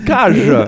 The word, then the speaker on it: Cage: David Cage, parce que ne l'oublions pas, il est français, ça se prononce Cage.